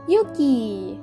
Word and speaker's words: Yuki: It is a noble name for both genders, although it's pronounced a bit differently, with a long U in the boy's pronunciation. As Yuki, you are strong, courageous,